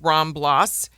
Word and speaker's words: Ramblas: Barcelona and everybody wants to go down the ramblas it's pronounced ramblas R MBL l and it's a long stretch